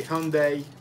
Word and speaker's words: Hyundai: I don't know, in Russia we say Hyundai.